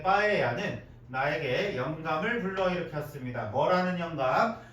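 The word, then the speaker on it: paella: 따라서 my 빠에야 파엘라라고 읽었지? 빠에야 이거 LL 두 개 붙이면 Y 소리 나는 거예요. 스페인 말에서 스페인어에서 자 나의 스페인어에서의 빠에야는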